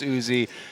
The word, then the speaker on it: Uzi: because there has been discussion on how to pronounce Uzi yes we did get confirmation from player management